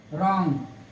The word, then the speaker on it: wrong: ठीक है, एक एग्जांपल और देख लीजिए, WRONG, क्या हो गया, रॉन्ग, रॉन्ग हो गया।